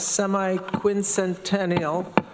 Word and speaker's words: semi-quincentennial: For the, if I have this correct, semi-quincentennial celebration, what year is that?